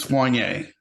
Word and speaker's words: Soigné: It is Soigné. Soigné. Yes, I think like a bird, a swan, and then Yeah. yay. Soigné.